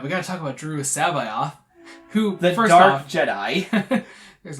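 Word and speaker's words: Joruus C'baoth: Mark Thompson official narrated Aid of the Empire pronounces it it's JIS Sabi and you had to remind of that a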